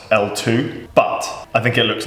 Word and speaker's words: LTWOO: should probably point out here Jimmy it's actually pronounced L2 but I think it looks like Twitter so